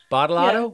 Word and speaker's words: Badolato: Badolato?